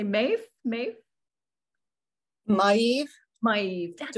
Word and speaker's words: Maeve: Maeve.